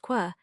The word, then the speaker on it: coir: For this somewhat unplausible theory there is support in the fact that in the cognate Gaelic coir, pronounced quer, means a spear, and that there is derived thence curiad, a warrior.